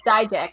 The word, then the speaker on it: Dijak: You probably know how to pronounce that better Yeah, than I. it's like Dijak. Yeah, it's Dijak.